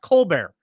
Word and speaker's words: Colbert: stephen colbert staffers the why is the t silent does that even make sense it looks like colbert but it's pronounced colbert where why don't why don't you just take the t off the end of your name so i can pronounce it uh properly for you anyway uh